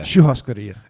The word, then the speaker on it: Churrascaria: remember how you pronounce that word, but oh man, Yeah. Churrascaria.